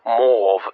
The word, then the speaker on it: mauve: Perhaps the most famous example is the invention of mauve, or mauve, as it was originally pronounced by the Victorians.